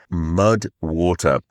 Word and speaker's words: MUDWTR: That is where the supporter of today's podcast comes in, Mud Water, and it is spelled MUDWTR. So Mud Water.